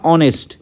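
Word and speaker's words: honest: ঠিক আছে ঠিক যেমনটা অনেস্ট এইচ ও এন ই এস টি অনেস্ট অনেস্টের এই যে এইচ এর উচ্চারণ কিন্তু আমরা হনেস্ট বলি না এটা আমাদের কিসের হয়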